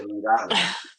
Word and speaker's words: Long Island: Love Long Island. Didn't say it right. You got to say Long Island. Got to be one word.